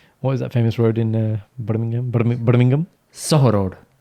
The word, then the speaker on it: Soho Road: No, it's not about getting it, but you're saying it wrong when actually it is actually just... It's wrong. It's Soho Road.